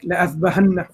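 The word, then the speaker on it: لأاذبحنه: We don't change it, but it denotes when we pronounce it, there's a marker there that tells you that this alif is silent.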